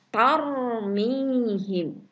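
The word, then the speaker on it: ترميهم: Ingat bacanya tebal, tarmihim.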